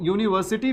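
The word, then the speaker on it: university: लेकिन यहां पर जब यूनिवर्सिटी लिखा हुआ है। तो ये जो है ना ये य से निकल रहा है। यूनिवर्सिटी और य क्या होता है? य एक कंसोनेंट साउंड होता है।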